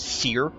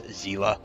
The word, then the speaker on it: Seele: Honkai doesn't really have like an official pronunciation unless you're going by like the Chinese pronunciation, in which case it is Seer. And then the like actual true blue English pronunciation from the official Honkai Star Rail dialogue is Zila.